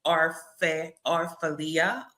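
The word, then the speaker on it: Orfalea: I can't pronounce his last name. Orfalia.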